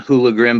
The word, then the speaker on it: HooliGrim: It's pronounced like you see my name, HooliGrim, but it's spelled who, like who is that, _LA_Grim.